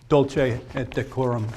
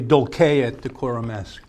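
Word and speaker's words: Dulce et decorum est: of the poem is dulce at decorum yes and that is that's the I'm sorry that's the modern Italian pronunciation it's actually dulce at decorum s bent double like old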